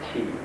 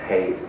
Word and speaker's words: qi: Oxygen is qi. Wow, that's the pronunciation of Mandarin, right? And I'm from the south. We don't think much of those people up north because they're a bit funny, right? Because they speak funny, pronounce the words funny. Qi, in fact, is Hei, means oxygen.